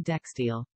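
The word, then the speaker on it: Dijksteel: e l oh here he is somebody's already pronounced his name for us and Fernie dextiel dextil and Fernie dextile and Fernie dextiel okay I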